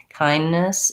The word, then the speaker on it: kindness: could get away with what americans typically do there is that they stop for the d kindness and then they release again for the next n so it's just like